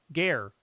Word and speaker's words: Gur: Gur is pronounced more like G-air. Gare. Okay. Like what you breathe.